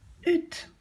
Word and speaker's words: hutte: Une, hutte, avec le H muet.